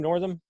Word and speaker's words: Northam: northerns in that are you say his name Northam yeah Roth Northam yeah I was gonna jump